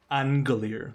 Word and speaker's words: Aingalear: It's a silent N. No, it's Aingalear. The I is silent. Oh, okay. Aingalear, right?